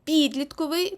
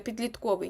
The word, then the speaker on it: підлітковий: пекерський тому що пекер підлітковий тому що підліток Так ви ось тут постійно допускаєте помило помилку і говорите підлітковий ні підлітковий тому що